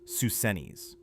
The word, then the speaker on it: Psusennes: Inside one chamber, they found something astonishing: the sealed, undisturbed tomb of Pharaoh Susenes I, pronounced Susenes.